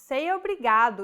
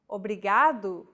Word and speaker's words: obrigado: is pronouncing this sound think of the quick tapping motion your tongue makes as it strikes the top gum ridge in words like ladder